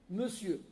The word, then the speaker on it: monsieur: D'ailleurs, on écrit toujours pareil, mon sueur qui se prononce monsieur.